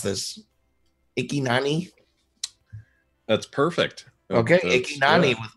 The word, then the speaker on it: Ikyna: I don't know how to pronounce this. Ikynani?